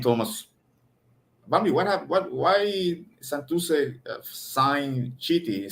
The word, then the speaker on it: Chiti: And the catcher, how do you pronounce his name? Is it Chitley? Harry Chiti. Chiti, okay.